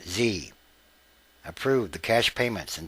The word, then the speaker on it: Xe: to former company officials Blackwater which is now XE but pronounced Z approved the cash payments